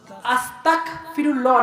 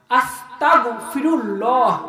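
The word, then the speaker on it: أستغفر الله: আস্তাগফিরুল্লাহ না, আস্তাগফিরুল্লাহ, গয়ন উচ্চারণ হবে।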